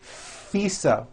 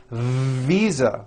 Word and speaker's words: visa: international FISA correct no I said FISA with an unvoiced F I should have said visa with a voice to be living I am living